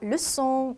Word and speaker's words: leçon: 5번 C 밑에 이렇게 꼬리표 있으면 S 스펠링처럼 발음해 주시면 되세요. 그래서 ça va, François, 마지막 leçon 이렇게 되겠죠.